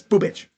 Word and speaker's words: Bubic: So, in his career, Chris Bubich sounds so weird.